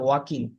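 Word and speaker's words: walking: He likes he likes ওয়াকিং slowly, ওয়াকিং, সে এটা ধীরে ওয়াল না, ধীরে ইয়ালের উচ্চারণটা এখানে হবে না, ওয়াকিং।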